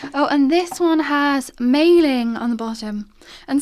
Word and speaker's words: Maling: and this one has mailing on the bottom and some people mispronounce it as mauling which is wrong or melling or maling it's mailing yeah it's a newcastle